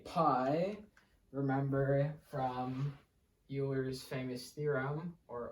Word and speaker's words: Euler: say Pi remember from Euler's famous theorem or Oiler as it's correctly pronounced e to the pi